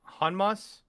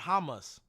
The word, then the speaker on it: Hanma: it's Yujiro Hanma, not Hamas.